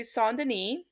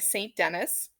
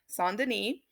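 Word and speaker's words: Saint-Denis: to first show you sondini or what we probably say a st. Denis but this is a church in France so of course you want your proper French pronunciation which is sawn this is st.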